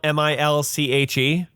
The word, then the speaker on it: Milch: verdurbin milk gurkey is milk spelled m-i-l-c-h-e yeah i think i think it's pronounced milch yeah meal skulk he